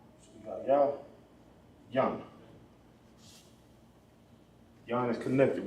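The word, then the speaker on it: יין: It'll be pronounced yayan. Ya. Yan. Boom.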